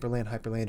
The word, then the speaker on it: Hyprland: Oh yeah, Hyprland, it rhymes.